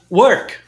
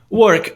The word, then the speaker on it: work: Tem duas formas de você pronunciar essa palavra. Inclusive, eu já tive alunos que tinham super problema em pronunciar essa palavra no sotaque americano por causa dessa articulação do R, né?